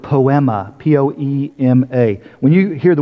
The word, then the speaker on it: poema: The Greek word is the word poema, P-O-E-M-A.